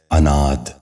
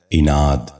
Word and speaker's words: عناد: 12واں اور آخری لفظ ہے عناد۔ یہ غلط تلفظ ہے، درست تلفظ ہے عناد۔ دوبارہ سنیے، عناد۔ بچوں